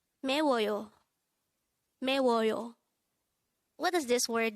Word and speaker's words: 매워요: MAEWOYO. MAEWOYO. This is pronounced as a three-syllable word. The first syllable is me, second syllable is wo, and third syllable is yo. Pronounce it with me. MAEWOYO.